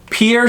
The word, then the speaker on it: Pierre: uh the capital city pierre uh we're inclined to pronounce it the french way because it looks like a french word um pierre but the local pronunciation